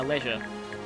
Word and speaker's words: leisure: with Jill at my leisure. Yeah, a leisure is... yeah, it's pronounced leisure for Australians, and I think for in British pronunciation as well. Not leisure like it is in America.